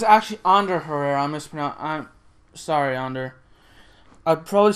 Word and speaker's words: Ander Herrera: And it's actually Ander Herrera. I'm sorry, Ander. I probably still mispronounce his last name because I'm terrible at pronouncing.